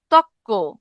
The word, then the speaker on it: তর্ক: আর যদি যুক্ত ব্যঞ্জন থাকে, যেমন দেখেন তর্ক, তর্ক থেকে, তর্ক থেকে কি হয়ে গেল? তক্ক।